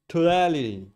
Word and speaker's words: totality: Totality.